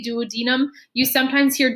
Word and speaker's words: duodenum: most digestion happens uh you can have it pronounced two different ways uh duodenum or duodenum i always say duodenum you sometimes hear duodenum as well too so